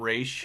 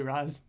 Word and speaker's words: Ra's al Ghul: That's like saying Ra's al Ghul your entire life and then hearing the animated series call him Raish. Oh, Raish al Ghul. I think I still say Raz.